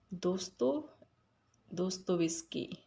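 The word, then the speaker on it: Dostoevsky: Doto do those whiskey. This is how you have to pronounce.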